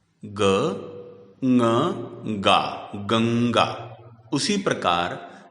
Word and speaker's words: गंगा: जैसे गंगा में अनुस्वार के बाद का वर्ण ग क वर्ग का है, इसलिए अनुस्वार का उच्चारण करते समय ङ उच्चारित किया जाएगा। गंगा, ग ङ गा, गंगा।